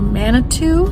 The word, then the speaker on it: Manitou: a lot of information so we're heading to Manitou is how you say it Springs next and